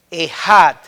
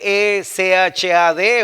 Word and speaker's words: Echad: Esa palabra uno es, se escribe en hebreo Echad o Echad, se escribe E-C-H-A-D o E-J-A-D, Echad.